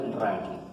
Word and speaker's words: Rankine: Se escribe Rankine, pero se pronuncia Rankine.